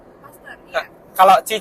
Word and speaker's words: Pasteur: katanya kan kalau misalkan kayak paster itu kan kan tulisannya Pasteur gitu kan itu emang katanya cara bacanya Huruf pertamanya aja gitu u-nya enggak usah gitu paster Iya kalau Ci c